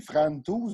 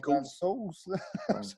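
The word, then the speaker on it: Francouz: Ben là, ça s'écrit Frantouz, mais ça a l'air que ça se dit Fransos.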